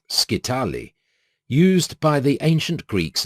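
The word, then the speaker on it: scytale: mechanical means of incipherment was the skitale or skitale pronounced skitali used by the ancient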